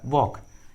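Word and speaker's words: walk: इस ट्रिक के अनुसार एल का उच्चारण नहीं किया गया है, एल साइलेंट है। उसी तरह वॉक।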